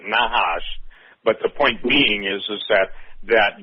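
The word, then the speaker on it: Nachash: And Mark, explain, the Hebrew meaning of N-A-C-H-A-S-H, because I think they pronounce it Nahash, but the point being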